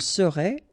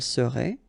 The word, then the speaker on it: serait: Il serait, elle serait, final T not pronounced.